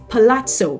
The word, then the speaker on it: palazzo: no it is not Palazo okay it is pazo patoo those mango colored pazo pants that made